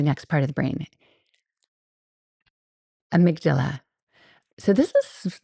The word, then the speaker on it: amygdala: It's like Amy and then a G and then Dala.